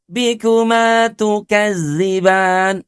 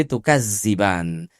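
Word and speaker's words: تكذبان: Fabiayyi alaibbikuma tukadziban. Tuh sudah alanya cuman dua harakat ala kadarnya gitu ya. Tukadziban juga bacanya jadi tukazziban. Karena seringkiali ya kita membaca huruf dzal itu malah jadi zai.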